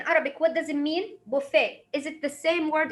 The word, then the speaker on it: buffet: we have the tea but we would say buffet buffet so this one is the french the french